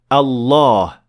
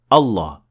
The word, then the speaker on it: Allah: Well, the word Allah does have a dagger Alif, simply because we pronounce it. We say Allah. We don't say Allah.